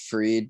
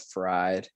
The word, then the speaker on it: Fried: max fried and um it's actually pronounced freed but like it's spelled fried i believe i could